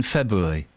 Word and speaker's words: February: eyes of February listen how many how many ours are there in February not as many as you just said I've said two no one pronounces the first R start with Basics let's